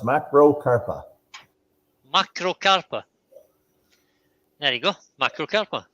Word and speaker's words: macrocarpa: Mark says it's pronounced macrocarpa.